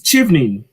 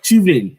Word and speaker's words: Chevening: It's like chi from cheese. Chevening, right? Chevening as in cheese, right?